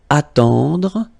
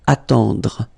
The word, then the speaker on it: attendre: So remember this final L is not pronounced. Gentil, gentil, and it's nice or kind. Then attendre, attendre, remember final you don't insist on it, it